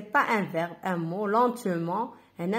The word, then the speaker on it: lentement: هنا سي با ان فيرب ان مو lentement. هنا نطقوها ان او ان تي نطقوها ان lentement.